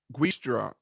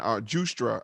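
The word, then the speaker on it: Giustra: look into this guy frank guistra i think it's from justra i think it's just how you pronounce it this is van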